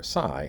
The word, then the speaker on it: psi: i can never remember those three tonics however psy i never screw up it is pronounced psy and it's a greek letter it